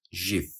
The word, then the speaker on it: GIF: preferred soft G subsection in French the acronym tends to be pronounced ji with the voiced postal violer fricative J as in the J in the frencha or the s in the English measure or Vision even though J which